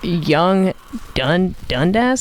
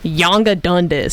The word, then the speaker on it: Yonge Dundas: It's called Yonge Dundas. That's how you pronounce it. Young Yeah. and Dundas. Do you want to know how I thought that you were supposed to say that? Please. Yonga Dundas.